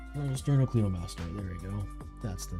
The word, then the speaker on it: Sternocleidomastoid: Sternocleidomastoid.